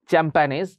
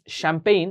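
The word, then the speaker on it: champagne: Adjective obviously শ্যাম্পেইন, এটা কেউ আবার উচ্চারণ করবে না চ্যাম্পানেজ, শ্যাম্পেইন এটা ফ্রেঞ্চ ওয়ার্ড, শ্যাম্পেইন হচ্ছে একটা মদের নাম।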